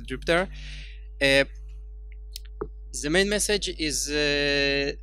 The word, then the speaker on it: Jupyter: Colonel example is called Jupiter the pronunciations stuck in my head sorry but from what I understand occurs the right way to call it pronounced is Jupiter if the main message